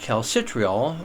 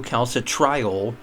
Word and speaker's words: calcitriol: So along the way, you have cholecalciferol and then calcidiol 2, calcitriol 3. That's the last form. That's the active form. Calcitriol would be one way to pronounce it. I think most people say calcitriol.